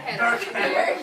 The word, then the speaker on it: Hannah: There's an H at the end. It's spelled the same way backwards. At the end of? Yeah. No, at the end of Hannah. The H is silent.